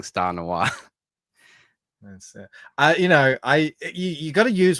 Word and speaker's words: noir: If Bancroft pronounced noir properly, it wouldn't rhyme with star. That's very true. They end the same for me. Star noir.